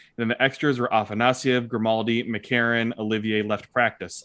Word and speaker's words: Afanasyev: I mean, and you listen to Russian broadcast, that's Afanasyev. Yeah.